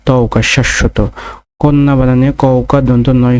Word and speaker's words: শাশ্বত: তারপরে শাশ্বত, শাশ্বত বানানটিতে প্রমিত উচ্চারণ রয়েছে তালেবর সয়াকার তালেবর শয় হসন্ত তালেবর স তওকার, শাশ্বত।